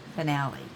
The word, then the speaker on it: Finale: yeah that's right somebody told me how to pronounce it and finale that's right okay and where am I at